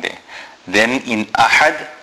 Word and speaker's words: أَحَدٌ: Then in ahad, the ha is a big ha, which is pronounced from the center of the throat.